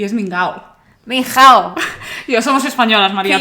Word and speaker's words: Minghao: Después de eso, el único nombre que me sé es Minhao. Por cierto, María me echó la bronca. ¿Por qué? Porque decís Minhao, y es Mingao.